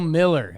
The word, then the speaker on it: Mueller: Man, you ump Bill Miller at the Top Gun bar, just yucking.